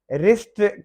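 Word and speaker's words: wrist: Wrestling, कुश्ती fighting वगैरह, W silent है। रिस्ट, कलाई को कहते हैं रिस्ट वॉच, तो जिसमें डब्ल्यू साइलेंट है।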